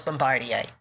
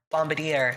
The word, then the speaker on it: Bombardier: We got the wonderful Nia, Butch, Crunchy Pickle, Athena Atlas, and me, your wonderful host, Bombardier. Or Bombardier, as some people mispronounce.